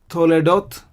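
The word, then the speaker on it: תולדות: If you take this word toledot, so we have to, le, dot. To, le, dot. So 3 syllables again in toledot.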